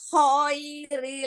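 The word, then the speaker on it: خَيْرِ: Wa innahu lihubbil khairi lasyadid. Lagi tartilkan lagi. Wa innahu lihubbil khairi lasyadid. Wa innahu lihubbil khairi lasyadid. Nah, khairi huruf lin, ya harful lin. Itu jangan ditarik ke dalam, tapi keluarin. Khairi.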